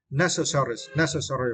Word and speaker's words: necessary: And next was necessary, right? And for this word, you need to stress the first syllable.